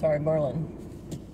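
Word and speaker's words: Maryland: Merlin. That's how they say it over here, Merlin.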